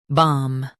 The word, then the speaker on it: bombast: BOMBAST, BOMBAST. Stress bomb and keep bast clear.